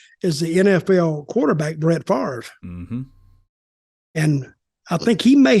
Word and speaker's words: Favre: on this already but Brett Favre not father apparently because that was the Something About Mary pronunciation that only I've heard but yeah he he's